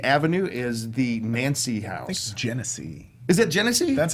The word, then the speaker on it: Genesee: I've heard it pronounced Ganassi can SE I think it's a soft G so what's gonna see